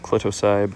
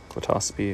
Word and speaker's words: Clitocybe: um some clatosubi so a lot of people try to pronounce this clitocybe but it's glotosphey at least when i've heard it pronounced um we just have